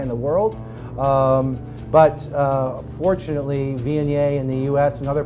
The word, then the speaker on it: Viognier: Again, it's pronounced Viognier.